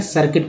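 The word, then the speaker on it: circuit: था उसने सर्किट ए सर्किट में यू का उच्चारण नहीं होगा इसलिए सर म्यूट न पड़ें सर्किट पढेंगे तो उसे डिस्चार्ज गाइस यहां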